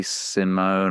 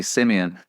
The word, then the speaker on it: Simeon: easy to mispronounce it so people say Simone or Simon it's actually Simeon but everybody calls me